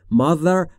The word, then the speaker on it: mother: Mother یعنی مادر. تیهچشو دقت بفرمایید در تلفظش، زبون زیر نیش دندون بالا، سعی میکنید بگید ز، میشه the.